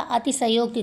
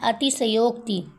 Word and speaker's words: अतिशयोक्ति: अतिशयोक्ति तीसरा अतिशयोक्ति चौथा अतिशयोक्ति तो इसका राइट आंसर क्या हो जाएगा सही उच्चारण इसमें क्या है तो इसका सही उच्चारण है अतिशयोक्ति राइट आंसर डी हो